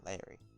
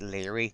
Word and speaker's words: Leary: It's actually pronounced Leary. It's just how his accent is. So basically, it almost sounds like he's saying Larry, but he's actually saying Leary.